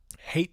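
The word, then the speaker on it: Haight: we would go to this area called um hate street it's spelled h-a-i-g-h-t it's pretty famous san francisco neighborhood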